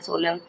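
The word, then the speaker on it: solemn: सोलन सोललेन कहते हैं। सोलेन बोल देंगे फ्रेंड्स इसको। सोलेन बोलते हैं। अमीज़ में साइलेंट होता है।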